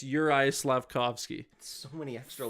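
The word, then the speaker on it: Juraj: I know it's a common one that gets mispronounced. This one, good luck. Jumanji Slavkovsky. You nailed the last name. Really? Yeah, it's sweet. It's Slavkovsky. But the J's are once again silent, and it's Uri Slavkovsky.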